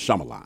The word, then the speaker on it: Shyamalan: That way, I know when I see his name, I just know it's pronounced Shyamalan.